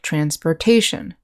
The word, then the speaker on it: transportation: are pronounced shin and when you have words that end with this suffix the accent is usually on the syllable right before the ending so transportation nation communication vacation transition